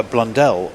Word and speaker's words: Blundell: I think the racing driver Mark Blundle uh, Blundell rhymed Adele pronunciation wise."